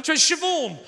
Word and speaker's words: Siobhan: i said to her so what's your name shavon i went oh that's one of those tricky